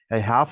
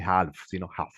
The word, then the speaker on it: half: 4 est acá 25 Half la l no se pronuncia no vayan a decir Half 4 is 5 o